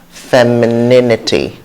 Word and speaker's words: femininity: masculinity femininity okay so try as much as possible to get used to the stress pattern and the syllables in it fair me so let's